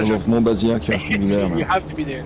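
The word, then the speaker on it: Monbazillac: who try to know how to say it, Montbazillac.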